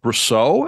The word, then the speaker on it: Brousseau: bit earlier but uh today I've got Dan brousseau am I saying it correctly all right yeah